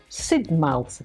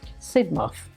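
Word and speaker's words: Sidmouth: from Jamaica as a freshman I call it Sid mouth Street and she sort of said to me it's not pronounced Sid mouth it's pronounced sidmov so the little things like that they hope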